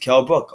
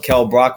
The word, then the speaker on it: Kell Brook: Kept calling him Kell Brock when he damn well knows what his name is.